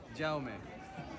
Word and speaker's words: Jaume: Can we get some clarification on how to pronounce this guy's name? Jaume.